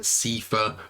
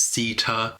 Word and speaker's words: Sita: bit, because I said Sifa, because like TH in English is usually like a th sound. So I think I called her Sifa at a few points, but it's Sita.